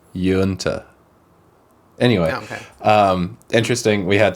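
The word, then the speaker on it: Uinta: No, it's 1065 Yunta Way in Denver, and it's Yunta is like you enter. Yunta.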